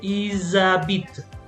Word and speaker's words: ils habitent: Also, if you have an H, remember the H is silent. So even though you have the H, you're gonna join them together.